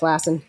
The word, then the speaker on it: Lassen: love the scene of Lassen I think his name is am I pronouncing that right yes that's correct Lassen at least that's my pronunciation the Danes May differ so Lassen is the